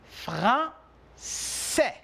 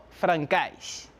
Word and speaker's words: français: Je répète, français. No francais.